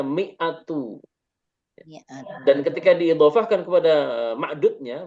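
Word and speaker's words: مئة: 100 ada angka 100 maka cara bacanya miatu dan ketika diidofahkan kepada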